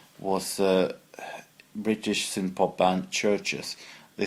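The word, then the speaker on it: Chvrches: British sin pop and churches they spelling with a V but they pronounce it Church just as in a church so this is every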